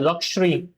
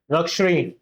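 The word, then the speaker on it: luxury: ये जो वर्ड है इसको बोला जाता है लक्ष थोड़ा सा श का साउंड आता है इसमें। लक्ष ओके लक्ष लेकिन अगर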